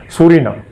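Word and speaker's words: Psorinum: ভূমিকা দেখা গেছে আর সেটার জন্যই আজকে বললাম সরি নাম হুম বানানটা বড় সুন্দর পি এস ও মানে প্রসরিনাম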